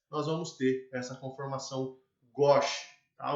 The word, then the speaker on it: gauche: Eu falei gauche a graduação inteira, eu vim descobrir há pouco tempo que era gauche. Mas tá, fala gauche, é gauche, tá? Conformação gauche, mas se escreve gauche.